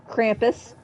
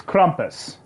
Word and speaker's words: Krampus: Krampus. It's Krampus, not Krampus. Tomato, tomato. No, he doesn't have a cramp. He doesn't have a perpetual cramp.